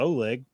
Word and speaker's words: Oleg: I remember the first time he called in, I was afraid to pronounce his name Oleg because I'm like, surely it's not Oleg, but it was. You don't know for sure if it was.